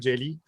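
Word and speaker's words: Jellÿ: si vous êtes familier avec Green jelly paraît que ça se prononce jello mais en tout cas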